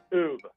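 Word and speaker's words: Oubre: How do you pronounce it? Oob.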